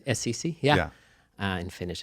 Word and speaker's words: Assisi: Saint Assassin, or how do I pronounce that correctly? Assisi? Assisi, yeah.